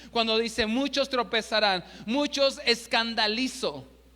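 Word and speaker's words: σκανδαλίζω: El original griego es una palabra que se escribe o suena escandalizo con K. Si me ayudan a escribirlo ahí, escandalizo con K y Z.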